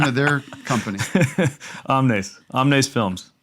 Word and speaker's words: Omnes: Omnes Films. How do you What? spell that?